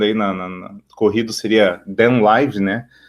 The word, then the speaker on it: Kdenlive: Mas pronunciando aí na corrido seria DenLive, né?